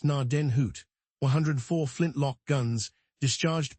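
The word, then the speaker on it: Gnadenhut: 103 pronounced narden hoot.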